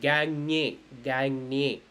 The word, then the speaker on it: gagne: GN is actually pronounced as nya. We have the Hindi word anya, right? So like that, like vigne, or gagne, like that.